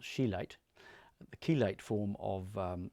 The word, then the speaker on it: chelate: that sulfur but um the keate form of pronounced chilate the keate form of